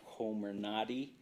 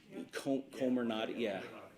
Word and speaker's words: Comirnaty: FDA says that the Pfizer or Comirnaty has been approved. I think that's how it's pronounced. That with a C? Comirnaty, yeah.